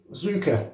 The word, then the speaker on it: Tsuka: He actually sent me this, and it's Tsuka, pronounced Z-O-O-K-A, I suppose you could spell it, Tsuka.